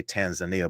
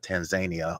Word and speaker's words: Tanzania: Rwanda and tan Tanzania and we always say Tanzania but they call it Tanzania over there Tanzania too yeah yeah yeah exactly